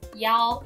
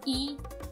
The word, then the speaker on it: 一: Note that when saying phone number, the number 1 is pronounced as Yao in China rather than Yi in order to avoid confusion with the number 七.